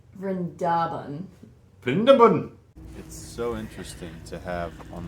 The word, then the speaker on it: Vrindaban: is open to all new Brenda bun no you have to pronounce it right rendaban so interesting to have